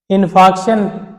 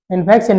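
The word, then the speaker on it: infarction: इनफेक्ट इनफक्ट मतलब रुकावट इनफेक्शन नहीं है इनफेक्शन मतलब आर इसमें साइलेंट है इसलिए आपको वो लग रहा है वैसे इनफक्शन बोलेंगे लेकिन सीधा इसको आर इसमें साइल साइलेंट रहता है।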